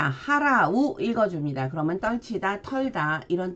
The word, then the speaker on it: 払: 떨치다, 털어내다 라는 뜻인데, 자, 하라우 읽어줍니다. 그러면 떨치다, 털다 이런 뜻이 되고요. 그리고 발음을 할 때는 한국어로는 불로 읽어주고 일본어로는 후츠로 읽어줍니다.